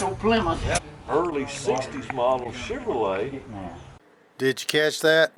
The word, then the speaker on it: Chevrolet: Chevrolet. That's how we say it in West Texas. Dad, what make of car is that? It's a Chevrolet. Chevrolet. See, out here it's not Chevrolet. Chevrolet. No, you didn't say it right.